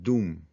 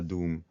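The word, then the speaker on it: Duhm: Y esto viene más o menos del autor alemán Bernhard Doom, que escribió un comentario muy influyente allá por finales del siglo XIX.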